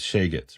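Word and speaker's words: שייגעץ: In other words, it's a kuh in Hebrew, and that becomes a guh in Yiddish. So, sheketz is shegetz, right? Meaning, that's the Yiddish pronunciation.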